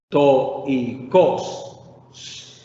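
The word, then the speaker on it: στοϊκός: Al quedar roto, yo tengo que leer de la siguiente manera. To y cos, to y cos, separando las sílabas.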